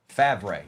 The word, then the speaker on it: Favre: Richie Grant and Brett Fer Fav. I think that's how it's pronounced. Favre.